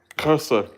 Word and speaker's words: Xhosa: Xhosa.